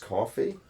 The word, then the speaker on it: Ko-fi: But I've heard of this new service called, I think it's called like Ko-fi, or it's pronounced coffee.